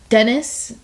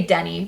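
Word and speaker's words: Denis: He was like um the director Dennis. Yeah. I I think they say Denny. They don't pronounce the S. Yeah. Okay. Denny asked him to do it and he's like I got it.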